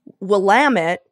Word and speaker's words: Willamette: of butchering it well the impression you get when you see Willamette spelled out is that it's a French word so it should be you know what I mean like um but it's actually Willamette and it's derived from a native word from the region that originally translated to like water or river or whatever and it's Willamette like